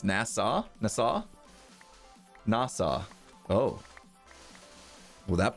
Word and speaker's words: Nassau: was like whoa it sounds like they're saying nasa like this space program it's actually supposed to be pronounced nassau nasa nasa oh well that person pronounced it